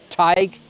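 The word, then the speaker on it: Tadhg: seen that you know siobhan t-a-d-h-g tag and queeve c-a-o-i-m-h-e paul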